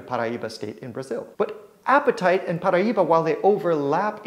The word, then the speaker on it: apatite: colored Stone blue green otherwise known as appetite and while it sounds a lot like you know that feeling you get when you're hungry it's not spelled the same a p a TI